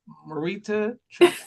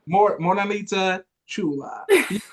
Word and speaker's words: Morenita Chula: Marita Chula. Moranita Chula. Morenita Chula.